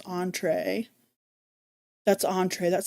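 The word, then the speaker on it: entrée: That's entree.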